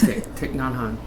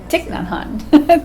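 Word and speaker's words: Thích Nhất Hạnh: And A Pebble for Your Pocket by that Buddhist monk whose name I can never pronounce. Thich Nhat Hanh. Thich Nhat Hanh.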